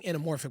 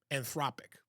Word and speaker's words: Anthropic: I'm saying Anamorphic, but I think I'm saying it wrong. I can't remember. Hold on a second. It's Anthropic.